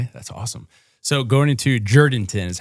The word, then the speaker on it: Jourdanton: So going into Jourdanton is how you pronounce it.